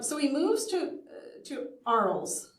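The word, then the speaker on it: Arles: he moves to to ARL ARL pronounced so uh in May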